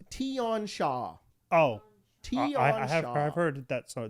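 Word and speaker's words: Tian Xia: It's pronounced Tion Shah.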